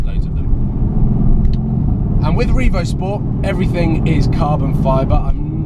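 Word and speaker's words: Revozport: Revo Sport spelled with a Z, so Revo Z Port, Revo Sport, Revo Sport. It's quite difficult to pronounce actually when you're reading it.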